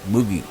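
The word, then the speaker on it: Mucki: One was a rabbit named Moogie, that's spelled M-U-C-K-I, Moogie, whose breed was a Dutch miniature, and a wire-haired terrier named Max.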